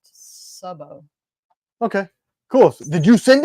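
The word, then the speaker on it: Szabó: thanks Walt you welcome Sabo is Hungarian it's pronounced Sao okay cool did you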